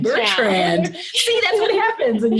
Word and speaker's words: Bertrand: I think I've actually said your last name wrong because you're recently married and I said Percy and it's not. It's Bertrand. Bertrand.